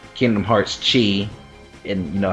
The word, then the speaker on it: Chi: basically you oh it's it's pronounced like key or Kai depending on how you say whatever yeah basically you're